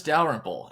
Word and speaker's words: Dalrymple: My name is Dalrymple, and that is how you say my last name.